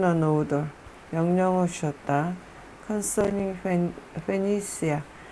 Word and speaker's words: Phoenicia: Concerning Phoenicia, 이 두로가 페니시아의 수도거든요. 컨선이고 다시 무엇에 관하여. 페니시아 C 발음이고, 근데 우리나라 말로는 페니키아라고 써있고요.